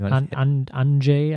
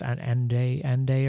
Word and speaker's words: Andrzej: Andrzej, I think, or Andrzej. Andrzej. Andrzej Duda. I learned something about this DRZ construction. I think it's Andrzej or something.